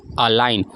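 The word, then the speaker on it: align: अ लाइन एक सिद्ध में करना ठीक है अलाइन इसको हम पढ़ेंगे अ लाइन अगला आता है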